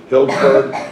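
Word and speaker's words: Healdsburg: Before you go, how do you pronounce, is it Hillsburg or? Hillsburg, that's in Sonoma County, yes.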